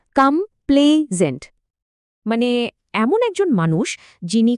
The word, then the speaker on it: complaisant: উচ্চারণটা খেয়াল করুন। কামপ্লেজেন্ড।